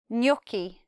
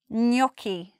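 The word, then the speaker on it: gnocchi: if we look here can you hear that the N joins very quickly with the the with the yes ound knocky knocky that's not a common sound in English so it's quite hard for us to pronounce in the Italian way many many people will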